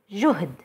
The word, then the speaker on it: جهد: You will notice that there are two consecutive consonants, ها and دل. To make sure that it's pronounced correctly, we put a سكون sign on the ها.